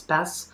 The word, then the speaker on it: Passent: I previously mispronounced that. It's not Passent, it's Passent.